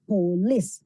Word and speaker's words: police: Okay, acuérdense que el estrés es en la primera sílaba, entonces es police, no police, sino, perdón, en la segunda sílaba, police.